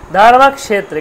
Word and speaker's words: ধর্মক্ষেত্রে: ধর্ম পরিষ্কার ধর্ম হলো এবার ক্ষেত্রে ক আর স ক আর স মূর্ধার স যেটা মূর্ধা উপরের দিকে চলে যাচ্ছে মূর্ধা এগুলো উচ্চারণ স্থানগুলো পরে আলোচনা করব আমরা তাহলে হচ্ছে উপরের দিকে যে চলে গেল তখন হল মূর্ধ স ধর্মত্রে কষেত্রে ক তাহলে দুটোকে উচ্চারণ করতে হবে ক্ষেত্র নয় কিন্তু ধর্মত্রে ধর্মত্রে কটা হালকা উচ্চারণ সেটা মূর্ধ যে সটা